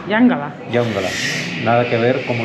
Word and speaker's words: Yongala: Aquí nos han dicho una disculpa, no he dicho si se pronuncia Yongala. Yangala.